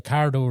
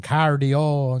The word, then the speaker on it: Cardo: Cardo radio off, and some lads were pronouncing it wrong, cardio and cardo and cardi this and cardi that, and the lads be giving out, you're not saying it right.